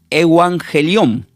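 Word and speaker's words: εὐαγγέλιον: utilizada porque la palabra evangelio del griego se pronuncia como eangelión.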